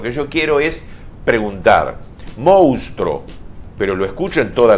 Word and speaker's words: monstruo: Así como se escribe. Si uno lee lo que está escrito, dice monstruo. Me voy a ayudar con este pizarroncito. Fíjate. Fíjate cómo se escribe monstruo. Hay que leer monstruo.